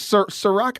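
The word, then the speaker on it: Cîroc: Sirach, I think it's made by P. Diddy or Puff Daddy. Oh, that's CIROC. But that's exactly how you say it.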